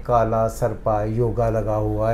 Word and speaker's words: योग: ले कि इनको यह नहीं पता कि योगा पढ़ना चाहिए कि योग पढ़ना चाहिए वाय ओ जी ए लिखा जाता है लेकिन होता है वाय ओ जी योग पढ़ा जाता है ए हिंदी में साइलेंट होता है ए हिंदी में साइलेंट